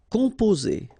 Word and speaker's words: composer: Composer. Okay, O and M together, after that a consonant, so it's the nasal on.